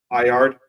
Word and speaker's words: Byard: just hearing him and how is his name pronounced is it bird or byard or what is it Bard yeah Bard um yeah you know kind